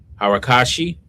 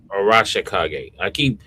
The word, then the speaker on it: Arashikage: So yeah, I think the Hara, you know, I keep saying the name wrong. Harakashi, is that the right? Arashikage? Arashikage.